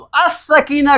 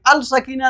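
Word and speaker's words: السكينة: For example देखिए, ये scene, scene नहीं है अपना इसमें आपके, तो अस सकीना कहा आपने, अल सकीना नहीं कहा, ठीक है ना।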